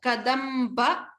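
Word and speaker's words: कदम्ब: Kadamba. So stress upon the ba.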